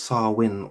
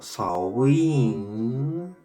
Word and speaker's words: Samhain: Meaning summer's end, and pronounced Samhain or Samhain, a celebration of the end of the harvest and the start of the coldest half of the year.